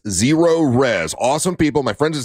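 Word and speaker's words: ZeroRez: Zero Res.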